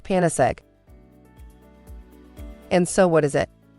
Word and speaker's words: Panacegg: goddess of universal remedy we combined this with the word egg and so it is pronounced panis egg and so what is